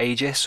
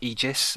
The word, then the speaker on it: Aegis: next up we've got Aegis or egis um however you want to say it we have checked this out and uh both pronunciations are correct um but anyway this